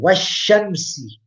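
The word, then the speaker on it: والشمس: And Washamsi Waduhaha. The yam is there, but it's not pronounced. It's written, but not pronounced.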